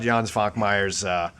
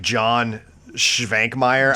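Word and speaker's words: Jan Švankmajer: Also, but yeah, before we go, check out Jan Svankmeyer's. And phonetically, it looks like John Schvankmeyer, I guess.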